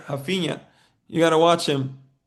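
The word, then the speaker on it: Raphinha: They call him Hafina. You don't pronounce the R, but I was going to say Hafina.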